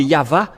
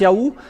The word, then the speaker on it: Yahvah: dans ce cas mais ça n'existe pas le vave égal à W é=al ou c'est toujours le V la vraie appellation c'est pourquoi c'est yava et ceux qui prononcent